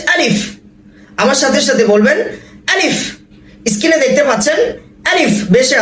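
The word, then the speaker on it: ألف: নিচের ঠোঁট শক্ত করে কামড় দিয়ে ধরতে হবে, ঠোঁটটা ভিতরের দিকে চলে যাবে। আলিফ। যাদের ঠোঁট ভিতরে যাবে না, তারা হাত দিয়ে ভিতরের দিকে আটকে দিতে পারেন। আলিফ আলিফ।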